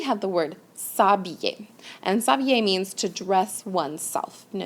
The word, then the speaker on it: s'habiller: have S apostrophe, and that's because habiller, the H is silent, so it's a vowel sound. So it's going to contract, s'habiller.